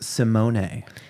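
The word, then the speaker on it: Symoné: I found out recently her name is actually pronounced Simone.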